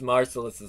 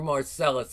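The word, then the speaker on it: Marsellus: if that really is merciless's soul or Marcellus is not merciless sorry sometimes you mispronounce names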